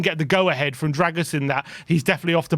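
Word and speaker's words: Drăgușin: I'm told it's Dragusin.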